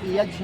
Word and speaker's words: यज्ञ: यज्ञ प्रोनाउंसिएशन अशुद्ध है और यज्ञ शुद्ध है, जैसे कि ज्ञान और ज्ञान, शुद्ध उच्चारण क्या होगा? ज्ञान। तो ऐसे ही यज्ञ ग का उच्चारण नहीं होगा, ये भाषा की त्रुटि है।